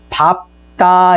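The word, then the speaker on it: 밟다: 자음 앞에 쓰였을 경우는 어떻게 발음된다? 밥다 이렇게 발음된다.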